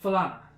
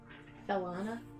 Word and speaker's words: Falana: With that, Darius gestures over towards Raccoonkin and says, "This is Falana." Felana. Falana. Okay. How do you spell that? F-A-L-A-N-A. Banana. Basically. But F's and L's.